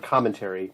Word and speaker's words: commentary: to use the word commentary make sure you use the emphasis on the first syllable here you want to